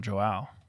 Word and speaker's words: João: Joao What's the J's like an H, right? in Brazil. It's not Spanish, is it? It's Portuguese. I That's think it's pretty Joao.